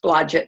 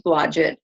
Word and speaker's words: Blodgett: years ago but now now it's we it's pronounced Blodgett now according to the similar roles of who you are now so but it's um it's Blodgett okay you pronounce it however you would like